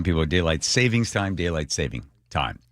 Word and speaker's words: daylight saving time: We're so close to getting rid of daylight saving time. There's an s in it. Most people mispronounce it. Did you know that? Yeah. So, it's not savings.